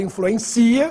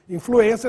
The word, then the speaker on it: influência: acento circunflexo no e e influência para não ler influencia que é verbo influência tem circumflex no e